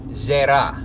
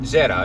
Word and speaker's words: Zera: And the word is Hebrew word Zera, Z-E-R-A. Sometimes it's spelled Z-E-R-A-H.